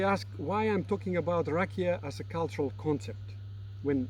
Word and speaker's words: Rakija: So the first cultural concept is rakia. It's written with J, pronounced with Y.